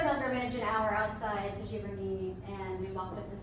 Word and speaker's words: Giverny: I think it's Giverny.